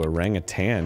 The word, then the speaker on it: orangutan: A Rang of tan you said it right yeah took me years I used to say tang with like a g on the end oh yeah as if it were like a powdered orange drink which honestly would probably